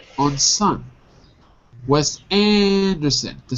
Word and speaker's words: Anderson: Anderson. Son. If you say it fast, it sounds like sin. But that's okay.